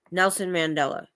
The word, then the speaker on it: Nelson Mandela: Or Nelson Mandela.